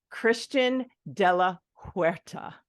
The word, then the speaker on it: Christian de la Huerta: His name is, now I just learned this backstage, if we want to call it that, Christian de la Huerta.